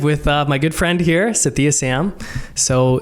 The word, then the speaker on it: Sathiya: Okay, I am live with my good friend here, Sathiya Sam. So Sathiya, and I'm saying it right.